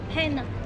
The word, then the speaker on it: Panna: Panna.